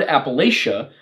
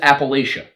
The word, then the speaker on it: Appalachia: And the word Appalachia, if you actually take it and you pronounce it as it is spelled, it is Appalachia.